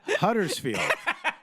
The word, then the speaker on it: Huddersfield: Huddersfield.